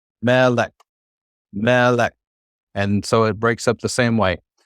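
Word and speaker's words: מלך: So the way we'd pronounce this is melek. If you were to clap, like when you did clapping for syllables as a kid, melek.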